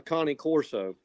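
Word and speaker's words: Cane Corso: this one's a a Connie Corso uh which is a huge dog too he's over 120 pounds now a Connie Corso yeah C little spelled like Kane But Connie is how it's pronounced but it's a it's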